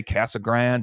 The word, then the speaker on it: Casa Grande: say it wrong mark But I say Casa Grande some people say Casa Grande and all that stuff